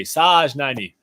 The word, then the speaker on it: Sajnani: All right, so said, haha, you can pronounce it Sajnani. Okay, Sajnani.